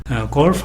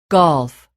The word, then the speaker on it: golf: two, golf, 영어에서는 모음이 강세를 받으면서 강하게 발음이 된다는 것에 주의를 하고요. 맨 마지막에 나타나는 F 소리는 매우 작게 소리가 들린다는 걸 여러분 느낄 수 있을 것입니다.